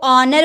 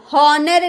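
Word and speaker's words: honour: जैसे ऑनर है ना, यहाँ ओ का पहले हम लोगों ने एच देख लिया, ओ का पहले एच है तो ऑनर बोलेंगे, हॉनर नहीं बोलेंगे। ऑनर, एच चुप है, साइलेंट है।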